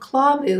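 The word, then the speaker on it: KLAVUU: ever ever ever it's from a company called claw boo and it's spelled k-l-a-v-u-u and this is their nourishing care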